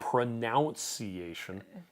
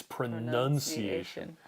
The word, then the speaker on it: pronunciation: It's not pronuniation, it's pronunciation.